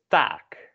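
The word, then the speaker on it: taak: of the syllable thing when there are two of the vowel it is always tense so here we have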